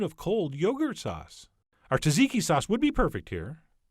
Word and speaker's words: tzatziki: cold yogurt sauce our tzatziki sauce would be perfect here although apparently i'm supposed to pronounce it zatziki but that feels awkward